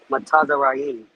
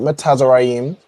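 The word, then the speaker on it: מצרים: Matazarayim. Not Metazarayim, but close. You have the the foundation of how you pronounce it.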